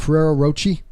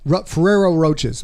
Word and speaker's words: Ferrero Rocher: How do you pronounce that? Ferrero Rocher. Yeah. Ferrero Roches.